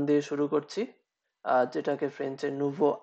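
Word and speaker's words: nous: এটাও, এখানেও আপনার সর্বশেষ এস এটা উচ্চারণ করা হয় না।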